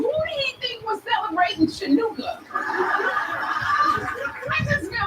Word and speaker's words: Hanukkah: Like the CH in Hanukkah is sounded out to ha.